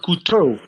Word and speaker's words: couteau: Couteau. Knife means couteau. Couteau is spelled C-O-U-T.